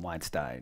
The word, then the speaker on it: Weinstein: to make light of this but you did pronounced some Weinstein is it Wednesday coinage coinage Sergey it's Weinstein